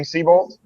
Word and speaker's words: Seybold: uh seabolt is that your correct pronunciation for your last name seabolt seabolt yep all right and we also have